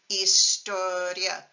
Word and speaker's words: historia: The words materia and historia don't have an accent mark because they don't split the IA into 2 syllables. So listen, materia, historia, as opposed to if you added an accent, you'd get materia and historia, but we don't.